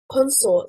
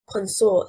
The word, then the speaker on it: consort: Consort, stressing on the first syllable, means partner and is a noun. Consort, stressing on the second syllable, means to associate and is a verb.